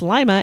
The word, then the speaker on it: Lima: I have lived in Ohio I know it's pronounced Lima and not Lima like it's spelled well you